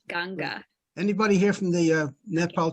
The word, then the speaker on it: Ganga: clothes in the right thing the ashes yeah pronounced ganga anybody here from the nepal chamber of commerce